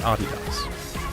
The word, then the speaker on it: adidas: by the way that is indeed how you pronounce adidas but back to film after writing that paper